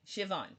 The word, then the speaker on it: Siobhan: But it's because it comes from a non-English orthography. The letters don't always make the sounds you'd expect them to as an English speaker, but I am learning.